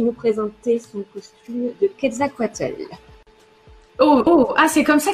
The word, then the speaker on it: Quetzalcoatl: alors ouais, parce que ça s'écrit pas du tout comme ça, mais pour avoir eu la chance d'aller plusieurs fois au Mexique, c'est comme ça que ça se prononce.